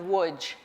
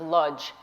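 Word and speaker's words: Łódź: in the town of woods in Polish the L with a line through it is pronounced so it's wood instead of ludge in 1939 Woods had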